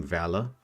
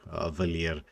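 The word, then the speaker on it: Valir: uh or as the the the guy actually pronounces his own name, Valor. We we actually in southern Africa say Valier, but it's Valor when you actually listen to him say it himself.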